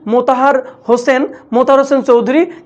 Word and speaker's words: মোতাহের হোসেন চৌধুরী: মোতাহার হোসেন চৌধুরী, ওকে, মোতাহের হোসেন চৌধুরী। সবাই একটু প্রোনাউন্সিয়েশনে ভুল করো, উচ্চারণে ভুল করো, সেটা দেখবা